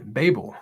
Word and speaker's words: Babel: Yes, it's pronounced Babel, just like table.